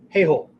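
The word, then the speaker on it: heihō: skills within Bushido right in Bushido the word is he hole right uh don't mispronounce that okay hey hole heih ho okay that has to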